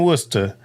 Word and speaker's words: Worcester: I lived in Worcester for 4 years. At least you pronounce it correctly.